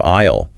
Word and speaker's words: aisle: And finally, a definition of aisle with that silent S explaining it's a walkway in a supermarket.